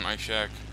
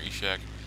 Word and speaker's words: Ishak: the i-16 type 2007 my Shack or echeck however you want to pronounce it is now this is